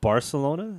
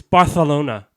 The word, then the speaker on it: Barcelona: It's not Barcelona. No, it's Barcelona. So wait, like you have a lisp? Barcelona. So the C is like silent.